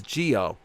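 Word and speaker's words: Zi-O: Why do you pronounce Kamen Rider Zeo as Zeo when most others pronounce it, like in Japan, as Geo? Because it amuses me that it has the same name as a Power Ranger season.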